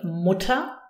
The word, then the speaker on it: Mutter: For example, if you use the word Mutter, Mutter has an E-R, but the emphasis is on the U, Mutter. You cannot hear the R at all.